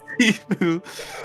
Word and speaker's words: Sifu: Otherwise typically spelt Shifu. But it's pronounced Sifu.